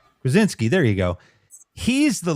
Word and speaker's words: Krasinski: I don't know how to say his last name, but Kaczynski? Krasinski.